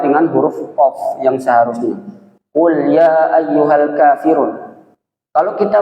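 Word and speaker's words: قُل: Tapi kalau kadang kita keliru membacanya dengan huruf kaf, karena ini huruf qaf dan kaf memiliki makhraj yang sama, itu keliru bacanya, maka akan merusak makna.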